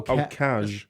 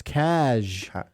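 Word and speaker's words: cazh: that c cash casual oh cash it's cash okay c a z h that's stupid how is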